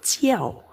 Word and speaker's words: 叫: Jiao pakai ujung lidahnya berada di gigi serinya ya. Tulisannya ike kou Terus iga ji seperti ini. Jiao. Mama jiao wo qu sui jiao. Ibu menyuruh aku pergi tidur. Jiao.